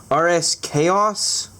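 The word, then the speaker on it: RSKAOS: want to call it I guess you're supposed to pronounce it RS chaos so yeah we're gonna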